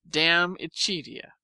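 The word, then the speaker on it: De Amicitia: We finished Libby and Denact and are now engaged with Diamachitia, pronounced damia.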